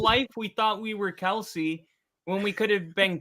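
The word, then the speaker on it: Kelce: Um, but his dad says that everybody kept saying Kelsey, and eventually he got tired of correcting people, so he just gave up on it.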